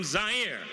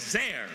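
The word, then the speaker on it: Zaire: everyone Howard coel coming to you live from zier some would pronounce it zir they're wrong it got big laughs and then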